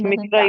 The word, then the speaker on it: Sanghamitra: It is It's Mitra Mahinda. only. Yeah, It's Mitra because Europeans are writing these books, na? So yeah, they yeah. are not able to pronounce it properly.